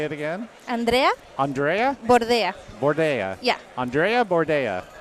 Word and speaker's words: Andrea: Andrea, yes. Andrea. Say it again. Andrea Andrea Bordea.